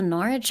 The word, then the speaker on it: Norwich: Edmunds is next to Norwich. I know that. Bro, hearing like an American accent pronounce town names the way that British people say them, it feels weird, man.